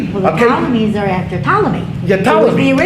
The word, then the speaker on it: Ptolemy: So Israel ends up under the Ptolemies, which of course has a P in front of it for no reason, except they could do it. They could spell it with a P, and that's the way it works.